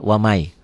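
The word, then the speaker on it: ومن: Waman nggak mungkin baca waman, dia wamai yabtagi.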